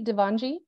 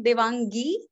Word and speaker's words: Devangi: Is it a soft G, Devanji? It's actually Devangi.